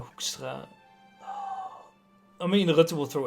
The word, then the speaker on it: Hoekstra: Hoekstra? Hoekstra is That's how you pronounce that. Okay, I think. Hoekstra.